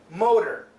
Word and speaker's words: motor: flat T sound and remember the flap T sound sounds like an American D motor motor it sounds basically like m o d e r there's no such word but that's the pronunciation an outboard uh I'm